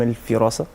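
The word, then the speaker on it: الفِراسة: اوكي، طيب هو اسمه علم الفراسه بكسر الفاء عشان نعم. بس يكون نطق مظبوط.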